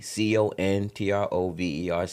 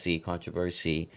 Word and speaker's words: Controverc: So I just switched up the spelling, took off that S-Y, put on the C, Controverc, Controversy.